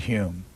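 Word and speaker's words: Home: future but of satire the then Lord Hume or is that Lord humor that's right no he pronounced its hom e I know this that's that's that's Britain for you if we can pronounce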